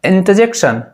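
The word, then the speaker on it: interjection: जी हाँ, कंफ्यूजन मत होइएगा, यहाँ पर भी जो आर होता है वो साइलेंट होता है, इसको बोला जाता है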